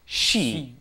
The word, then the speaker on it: 쉬다: Notice the pronunciation. Originally, it should be like 쉬, right? It's we is how it's written, we. But actually, it ends up being pronounced she. Yeah, they don't quite do the we part so much on this verb.